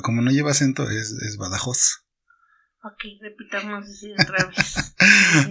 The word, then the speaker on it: Badajoz: Badajoz, ¿no? Badajoz. Sí, porque termina con Z. Si fuera Badajoz, tendría que llevar acento.